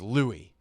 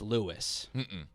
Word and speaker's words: Louis: yeah that's his nickname no l-o-u-i-s is louie it's lewis another w for me no l-o-u-i-s his name is lewis his name the show